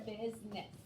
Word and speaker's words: business: Because you see the word bus, but you don't pronounce it that way. Because it looks like you have bus, business, but it's business.